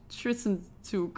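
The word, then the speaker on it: Zwischenzug: how to pronounce it we call this a tristan tuke it's german but i i kept on i kept on saying it wrong so i google it how to pronounce it it's like tristan took all right anyway it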